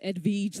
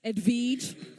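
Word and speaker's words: Edwige: with james wade and his wife edveej lawson wade who we got the pronunciation of edveej from her from her hubby he wanted to make sure we got that right she's a former wnba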